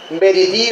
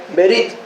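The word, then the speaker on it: בְּרִית: allí en Jeremías es verití o barití o eso, para que vimos anteriormente. Berit. Gracias, hermano. Berit. Y él. La última vocal en el hebreo no se pronuncia cuando está acentuada.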